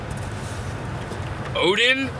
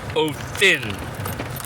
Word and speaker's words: Odin: Odin is more closer to Othin, because the D is actually a TH.